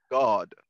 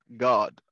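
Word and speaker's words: גד: And it's pronounced God. G-A-W-D. God.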